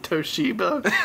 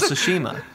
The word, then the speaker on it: Tsushima: Did you say Ghost of Toshiba? I said Ghost of Tsushima. Tsushima? Yeah. Okay. Is that not how you say it? Toshiba. Not Toshiba. That's the printer.